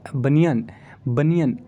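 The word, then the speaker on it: banian: और दूसरी चीज़, बनियान जो है, बनियन, इसमें एन को साइलेंट करिएगा तो बनिया आ रहा है, बनिया।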